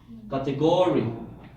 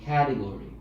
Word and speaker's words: category: correct no second syllable category category that as well how about the first syllable category category or category so which is the correct pronunciation which syllable first the first syllable category okay teacher what is